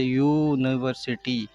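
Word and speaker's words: University: अब अ का यूज़ इसलिए किया है क्योंकि अगर यूनिवर्सिटी का प्रोनाउंसिएशन करते हैं तो उसका जो पहला जो लेटर है वो यू का साउंड देता है, अ का साउंड नहीं देकर यू का साउंड देता है, जैसे यूनिवर्सिटी, यूनिवर्सिटी।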